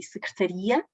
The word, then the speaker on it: secretaria: Secretária e secretaria, aqui, distingue significados, não é?